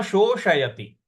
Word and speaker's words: शोषयति: तो षटकोण वाले श को हमको जीभ को रोल करके मूर्ध्वा पे लगा करके बोलना है। तो न शोषयति मारुतः, न शोषयति मारुतः।